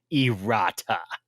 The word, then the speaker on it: errata: heard the word irada did I mispronounce it and so I had to go to a dictionary and I am pronouncing it correct erata sounds dirty I have